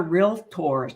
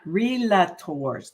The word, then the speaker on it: realtor: And you notice how I emphasize realtors, because we are realtors, not relators. There is not an A between the L and the tor. So it's realtor.